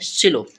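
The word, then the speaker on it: slow: से हमारा ओ बना और जो डब्लू होता है हमारा लास्ट में वो हमारा साइलेंट रहेगा तो इसे हम क्या पढ़ते हैं सलो क्या पढ़ते हैं सलो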